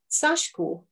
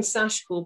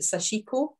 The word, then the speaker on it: Sashiko: like to have a go so next slide sashko i'm saying sashko because a lot of people pronounce it sashiko but the eye is actually barely pronounced is